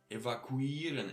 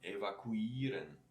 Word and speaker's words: evakuieren: Evakuieren, extra long with this E after E. Evakuieren. Yeah? Oder konstruieren. All these ieren words, which are more international origin, get this uieren sound, a long one.